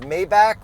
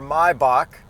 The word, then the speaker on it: Maybach: and then I also don't know if it's pronounced Maybach or my Bach I think it's my Bach I think it's my Bach too people say Maybach rappers say Maybach and I used to say Maybach somebody at mybox Maybach